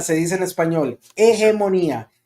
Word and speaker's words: hegemonía: Hegemonía se dice en español. Hegemonía, and that's with an H, and the H is silent.